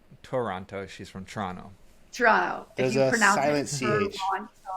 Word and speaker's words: Toronto: She's from Toronto, not Toronto. She's from Toronto. Toronto. There's If you a pronounce silent it CH.